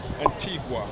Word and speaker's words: Antigua: In the car in Antigga compared to the other and tell tell us how to pronounce the name of the island properly. Antigua.